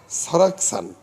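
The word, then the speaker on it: 설악산: তার উপরে 8.9 লেখা, এবং তার নিচে লেখা হলো সারাকসান। সল আক সান, ল যখন উপরে উঠে যাবে তখন উচ্চারণ হবে সারাকসান।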